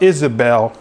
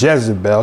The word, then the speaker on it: Izebel: of isabel which is the way you say her name in hebrew it's not jezebel because there's no j in hebrew right so her name couldn't have been jezebel so it had to be without jay so the j has